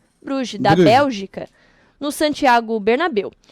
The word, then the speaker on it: Bruges: Clube Bruges, acho que é assim que se pronuncia, Bruges, da Bélgica, no Santiago Bernabéu.